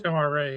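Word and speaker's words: Tomar-Re: Um I like the character of Tomari or Reay or however you say his name. Tomar Ray.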